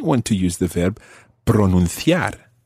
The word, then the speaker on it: pronunciar: to use the verb pronunciar. Pronunciar. Watch that. It's pronunciar. Pronunciar. Okay, and in Latin American Spanish, obviously, that would be pronunciar.